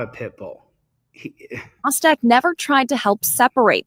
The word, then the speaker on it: Mostek: Her name's Mostek. That's how you say her name, M-O-S-T-E-K.